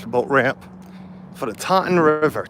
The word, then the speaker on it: Taunton: for the Taunton River Taunton t-a-u-n-t-o-n River but because of where we're from it's just time try to try to spell that one time there's like we're missing like fall letters there exactly how it's spelled it's the dawn River yeah so this was